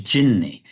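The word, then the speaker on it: jinni: It's like an anglicized pronunciation of an Arabic word, which is jinney.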